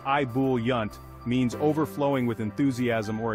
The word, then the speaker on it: ebullient: a fancy term it's a score booster ebullient pronounced IB yunt means overflowing with enthusiasm or excitement picture a